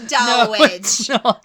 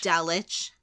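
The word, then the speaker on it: Dulwich: delich delic dull witch do not say it's dull witch my God I almost H you then it's D it's dich okay it's dich is there ever an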